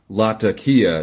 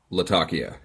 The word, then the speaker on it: Latakia: says good vid however it's pronounced lotta Kia not Latakia to which I you